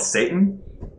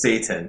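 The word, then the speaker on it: seitan: different Source it's uh this is the actual pronunciation so I don't worship the devil it's called Satan and it's s e i t n I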